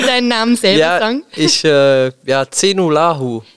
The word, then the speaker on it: Zejnullahu: Ich Zenulahu. Zenulahu. Genau, das ist, war sehr gut ausgesprochen.